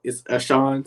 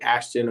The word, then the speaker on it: Ashon: Yes, I know it's spelled a little weird, but it's Ashon. So yeah, but I usually gotta say that because most people say Ashton or it might be Ashon and stuff like that.